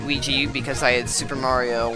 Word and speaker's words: Luigi: year cuz since it's the year of IGI or Luigi whichever way you want want to pronounce it I always pronounced it Ouija because I had Super